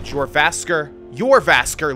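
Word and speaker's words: Jorrvaskr: Let's go down here into the Yervasker living quarters. The J is not pronounced, if I understand the dialect correctly.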